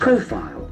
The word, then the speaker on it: profile: Profile. Profile. Can see that accent falls on the first syllable.